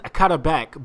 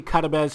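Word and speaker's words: Karabec: I know it says Karabek, but it's actually Karabez.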